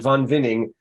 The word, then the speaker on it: Von Winning: Also with 8 bids, 2019, appropriately named Von Winning. Actually, it's German, Von Winning.